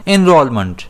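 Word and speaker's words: enrollment: इसे हम प्रोनाउंस कैसे करते हैं? इनरोलमेंट। और इसमें स्ट्रेस जो है वह आर पर रहता है।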